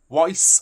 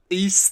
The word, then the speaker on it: Ys: Is it Weiss? I don't know. YS. East. There you go.